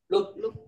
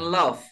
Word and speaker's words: loop: Loop L O P dibacanya loop. Dibacanya apa? Loop. Loop ya. Bukan love tapi loop.